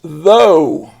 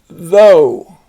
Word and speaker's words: though: The GH is silent, but the OU makes a long O sound. This is though. Though.